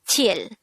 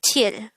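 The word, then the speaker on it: 칠: Next, the SINO-KOREAN version of number 7 is chil. Again, it's chil.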